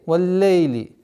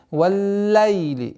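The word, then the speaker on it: والليل: Нужно обращать внимание, чтобы звук с огласовки фатха ла над буквой лям произносилось чтобы она не переходила в звук валлейли. Нет. Валлайли. Валлайли.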